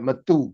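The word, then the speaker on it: Mathieu: Matthew, but it's spelled with a U at the end.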